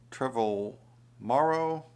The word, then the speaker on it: Trevorrow: this is directed by colin trevor morrow it rhymes with tomorrow i guess time is